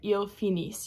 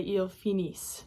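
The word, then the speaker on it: finissent: So make sure that you say eel phenise not. So the ent on the end of that is silent.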